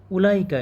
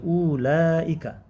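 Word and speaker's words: أولئك: তিলকা উভয়ের বহুবচন হচ্ছে উলাইকা যেমন হাদিহির বহুবচন হা উলাই জালিকা তিলকার বহুবচন হচ্ছে উলাইকা উলাইকা এর ওয়াও উচ্চারিত হয় না কারণ আমরা কিন্তু এখানে বলছি না যে উলাইকা এরকম কিন্তু না এই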